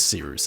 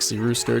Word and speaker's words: Cirus: Without further ado, my name is Cirus. It's spelled like Cyrus, not like Se rooster.